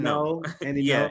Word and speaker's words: Ngo: Yeah, when it's Asian, it's an Asian word, NGO. Yeah. But when you pronounce it in English, it's just no.